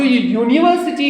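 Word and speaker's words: university: यूनिवर्सिटी क्या है यूनिवर्सिटी अब जो यूनिवर्सिटी है इसमें भी यू है यू वावेल लेटर दिख रहा है लेकिन इसका उच्चारण य हो रहा है तो इसके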